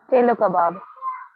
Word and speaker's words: chelo kebab: Chelo kebab.